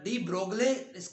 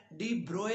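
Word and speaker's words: de Broglie: है वह प्रयास हाइपोथेसिस इसका जो डी ब्रोग्ली स्पेलिंग है अगर हम पूरे करें तो लेकिन इसकी जो आपने इसका फिर यूज करना है डिब्रॉय इस हाइपोथेसिस कहना है जिसमें डिस्कस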